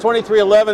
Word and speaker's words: 23XI: On Wednesday, 2311, it's pronounced 2311, it reads 23XI.